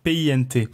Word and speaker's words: Pint: Et avec Pint, tout ça, ça s'écrit P-I-N-T. P-I-N-T, exactement, ça se dit Pint en anglais.